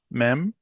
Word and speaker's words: Mem: Mem. Correct. Mem makes an M sound like mother.